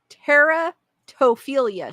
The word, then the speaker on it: teratophilia: Because I really want to know how to pronounce, if I'm pronouncing it correctly. Teratophilia.